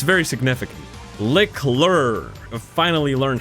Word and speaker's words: Leclerc: Leclerc, I finally learned how to say it, bro.